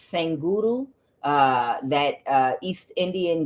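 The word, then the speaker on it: Sadhguru: sang Guru I'm sorry I believe it's pronounced sang uru uh that uh East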